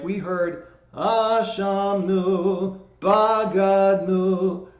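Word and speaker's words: בגדנו: for this, is that the words are pronounced Ashamnu, Bagadnu, Gazalnu, Dibarnu Dofi.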